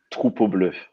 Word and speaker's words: Troupeau Bleu: Maybe you should pronounce the record, Sam. Troupeau Bleu with strong R.